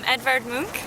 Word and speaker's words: Edvard Munch: Edvard Munch, I think is how you say it in the Norwegian way, and he's the painter who painted The Scream and yeah.